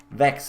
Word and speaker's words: Vechs: Vechs is also how to pronounce Vechs, by the way. Not Vechs or Vix or Vechs.